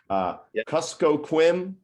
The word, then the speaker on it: Kuskokwim: The Yukon Easy, Kuskokwim Delta Tribal Broadband Consortium.